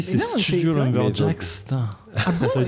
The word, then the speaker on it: Lumberjacks: sommes avec Antoine de Lumberjack. Lumberjacks. Ah, excusez-moi, et Lumberjacks. Non, mais il y a un S, en fait, il est jamais prononcé.